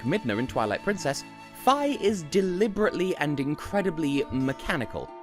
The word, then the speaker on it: Fi: that to mean that f I must be pronounced Fae because they can't understand how Japanese spelling works and again you're objectively wrong its Phi that's the only option end of discussion semantics